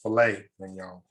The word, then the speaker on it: filet mignon: filet mignon it's actually spelled flat mignon but pronounced filet mignon okay yes yes this is where we're going